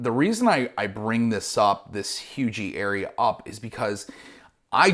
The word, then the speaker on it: Huger: So if you're not familiar with Hugie, it looks like Huger, okay, but it's pronounced Hugie.